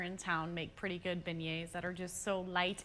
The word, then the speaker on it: beignet: happy early birthday now she's hoping to get pronounce it is it begets beignet beignet it's a French thing isn't it it's a